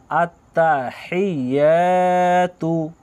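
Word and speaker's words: التَّحِيَّاتُ: হায়া জেরে হি, ইয়া আলিফ জাবার ইয়া, আত্তাহিয়া। তা পেশ তু, আত্তাহিয়াতু আত্তাহিয়াতু আত্তাহিয়াতু।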